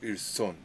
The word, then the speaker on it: ils sont: Double on the S, so ils sont. Ils sont. Oh, the, don't need double. You don't say the first S, hein?